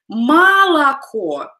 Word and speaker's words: молоко: Like the words молоко, again, we spell it as молоко, but we pronounce it as молоко.